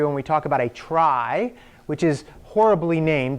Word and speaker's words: trie: we talk about a trie, which is horribly named. It's spelled T-R-I-E, which actually looks like tree as well, but it's not. It's a type of tree called a trie.